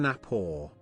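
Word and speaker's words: Gnapoor: shakin not stirred i'm kevin napo the g is silent when i sneak in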